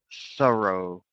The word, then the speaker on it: thorough: So remember, with TH, tongue must be between your teeth. Forth and thorough. Forthright. Thorough. Make sure we get our tongue in between the teeth.